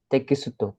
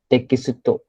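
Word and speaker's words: テキスト: Text नहीं pronounce करोगे Japanese में. Tekitsu. I will Tekisuto. Correct. Okay. So Japanese में जैसे लिखा है वैसे ही pronounce करना है. उसका इंग्लिश में क्या बोल रूपांतर मत करो. Okay. So this is your te, then this is your ki, then su, and then to.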